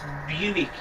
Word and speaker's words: Buick: It's pronounced Buick, by the way, Josh.